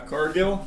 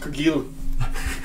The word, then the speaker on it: Cargill: Cargill. It's pronounced Kilu. Oh, it's French.